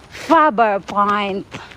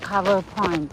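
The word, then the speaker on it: Faber Point: Fover point not cover point.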